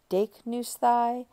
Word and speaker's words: δείκνυσθαι: So we'll put sthai on δείκνυ and get δείκνυσθαι. And there the accent is always on the third to last syllable, which you could actually think of as recessive.